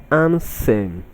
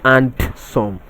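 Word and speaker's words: handsome: The option C is pronounced as ansem, not and-some. The D in this word is silent, not and-some.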